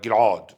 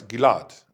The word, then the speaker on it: Ghil'ad: Russian, Polish, Yiddish, you don't have Ein, like Gilad. My name was Gilad, but everybody said Gilad, like Julia Gilad, Gilad. I mean, the difference between Gilad and Gilad is just the stress, Gilad, not Gilad.